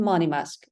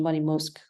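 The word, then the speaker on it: Monymusk: cocktails so Clarendon and money mask so I've also heard the pronunciation money mosque um but I'll I'll stick to money mask now so the The Distillery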